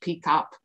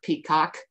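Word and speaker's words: PECOP: educators community of practice it's pronounced p cop not peacock um and it's actually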